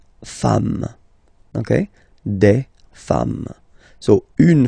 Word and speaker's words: femmes: and as we said, you don't pronounce it, so you get des femmes, okay?